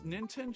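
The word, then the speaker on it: Nintene: I'm just like, yeah, it's Ninten, just the last E is silent.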